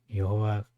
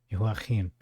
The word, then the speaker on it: Jehoiachin: The king of Babylon spoke kindly to Jehoiachin, or Jehoiachin, if you want to pronounce it in the Hebrew way. Jehoiachin.